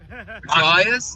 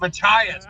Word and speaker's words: Machias: How do you pronounce that? New Mexico? No. Machias. Machias.